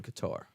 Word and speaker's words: Qatar: Afghanistan we were in Qatar or Qatar however you want to pronounce it but we did